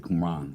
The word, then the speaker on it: Qumran: Yeah, I said Qumran. Yeah, I was missing the whole M when I was pronouncing it. I was saying Quran, Qumran.